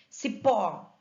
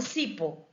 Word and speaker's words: cipó: Cipó, eu não falo cipo, eu falo cipó. A sílaba tônica está no pó, né? Termina em O, leva acento.